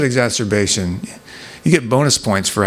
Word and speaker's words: exacerbation: that's a good one yeah exacerbation who said exacerbation you get bonus points for actually pronouncing it correctly most people say and most nurses say like exasperation which kind of fits - yeah you hear